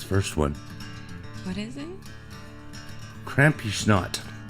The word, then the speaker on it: Krampusnacht: I don't even know how to pronounce this first one. What is it? Krampusnacht. Krampusnacht.